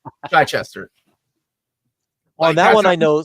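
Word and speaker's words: Chichester: Chai Chester from the Bronx and he's like Chai Chester well that one I know specifically because I asked him how he pronounced his name and he told me Chai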